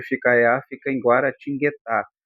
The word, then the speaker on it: Guaratinguetá: Muitos falam Guaratinguetá, né? É o pessoal de lá mesmo, mas em princípio é guaratinguetá, tá? Gua tem, né? Guá, ó, que eu tenho um encontro de consoantes o G U ali, tá?